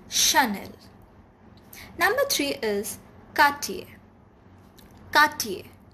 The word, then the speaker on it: Chanel: vuitton it's louis vuitton number two is chanel chanel it's not channel or chanel it's chanel number three is katie